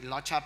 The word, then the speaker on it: Locha: So it's meant, now it's pronounced like Locha.